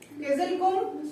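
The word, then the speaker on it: Kyzylkum: इसको किजली भी बोल सकते हैं, लेकिन किजल ही बोलिए, किजल, किजिलकुम।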